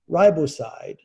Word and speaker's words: riboside: So that's spelled NicoTinamide, nicotinamide, riboside, RIBOSIDE.